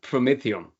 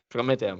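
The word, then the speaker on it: promethium: with the pro metal it was it is pronounced prometheum prometheum yeah from the Greek anti- Greek Fair tals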